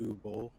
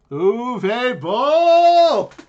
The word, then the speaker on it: Uwe Boll: So we all know, I think his name is pronounced Uwe Boll. Uwe Boll!